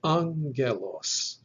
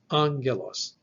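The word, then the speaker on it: ἄγγελος: This gives us the word angelos, angelos, the Greek word for angel. And so in English, the NG is reproduced with a soft G sound. But the Greek word is actually angelos, angelos.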